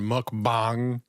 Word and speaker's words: mukbang: I hate I hate that he like had a special pronunciation. Mukbang.